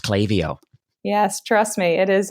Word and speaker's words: Klaviyo: the record we know that it actually is pronounced clavio yes trust me it is a it is